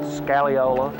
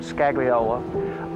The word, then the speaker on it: scagliola: Some people pronounce it scaliola. Some people pronounce it scagliola.